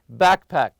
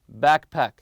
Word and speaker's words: backpack: on the first part also backpack backpack always stress the first part keep your sunglasses and